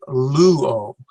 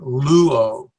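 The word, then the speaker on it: λύω: This is the word luo, and so we stress the upsilon, luo.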